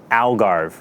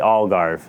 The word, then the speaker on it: Algarve: I called it the um Algarve, right? And uh it's actually all garve. It's a little softer.